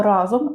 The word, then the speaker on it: разом: Ні, слово разом має тільки один наголос на першому складі.